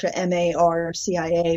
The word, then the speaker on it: Marcia: yes the series the series is called the Marcia Banks and Buddy series and Buddy is the Labrador and Marcia and it's spelled like Mara m a r CIA a but her mother pronounced at Marcia uh